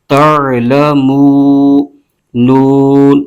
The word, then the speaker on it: تعلمون: ہجے یوں کریں گے تا عین زبر تع، لام زبر ل، تعل، میم واو پیش مو، تعلمو، نون زبر ن، تعلمون، آگے وقف تعلمون۔ اب